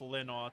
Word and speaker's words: Linall: Yes, they are pronounced Linaw to avoid confusion, because here in New Jersey there is also a Tom Linaw no relation.